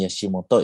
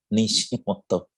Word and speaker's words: Nishimoto: Ini bukan Yashimoto ya, tapi Nishimoto. Mungkin terjadi sedikit terjadi kesalahan ejaan. Nishimoto.